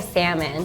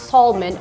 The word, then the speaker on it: salmon: I would just say salmon but when I hear people say Tallman oh we don't say the L but like some people